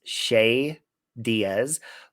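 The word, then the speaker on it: Che Diaz: and her boss um i believe the character's name is pronounced shay diaz played by an actress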